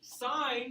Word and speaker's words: sine: So this is the sine function of angle A, and it's abbreviated SIN with the first three letters, but it's still pronounced sine, not sin.